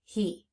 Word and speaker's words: he: That first sound, the H, that's expected. The H is doing what we expect an H to do. But then we hear the E making the sound, the long sound E.